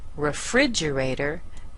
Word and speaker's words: refrigerator: so listen to these elevator da da da sounds just the same doesn't it the ater sounds exactly the same elevator escalator motivator and